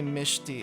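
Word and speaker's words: Mechty: I've been corrected in one of the comments and apparently Mishi is actually the correct pronunciation for mechi.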